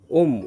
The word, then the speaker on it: ওম: করার সময় খেয়াল রাখবেন ম শব্দের উচ্চারণ আমাদের নাসিকা থেকে আমাদের নিঃশ্বাসটা ময় উচ্চারণের সময় নাসিকা থেকে নিঃশ্বাসটা বেরোবে তারপরে আপনারা পাঁচ সেকেন্ড